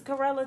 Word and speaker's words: chlorella: ah yeah what is this thing this is karela chlorella I should have bought some when I